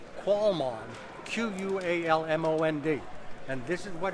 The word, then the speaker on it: qualmond: It's pronounced qualmond, Q-U-A-L-M-O-N-D.